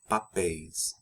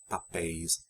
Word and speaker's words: papéis: Papel, papéis. Lençol, lençóis. Notice the accents in and the open pronunciations of the vowels in the endings of nouns ending in EL and OL. Anéis, papéis, lençóis.